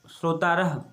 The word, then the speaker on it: श्रोतारः: और उसके बाद के कोलाहलम कुर्वन्ति, तो यहाँ पर आएगा श्रोतारः, क्या आएगा, ये श्रो ता और रह, श्रोतारः, विसर्ग जरूर लगाएं।